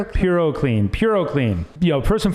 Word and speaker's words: PuroClean: It's a uh Proloc Clean. Did am I pronouncing that right? Purlean. Purocan.